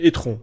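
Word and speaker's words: e-tron: tu d'ailleurs pour l'anecdote tu prononces pas correctement c'est Étron Étron GT voilà Audi Kaka GT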